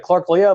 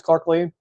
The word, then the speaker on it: Clark Lea: Some folks think it's Clark Lea, but no, it's Clark Lee.